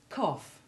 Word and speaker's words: cough: But a more frequent sound is the F sound that it sometimes has, rather than being silent, when following OU or AU. Listen to these sounded GH words. Cough, Enough, laugh, laughter, rough, tough, trough.